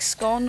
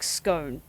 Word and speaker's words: scone: So, basically, Gorple, do you pronounce it to rhyme with gone, like scone, or do you pronounce it to rhyme with bone, like scone?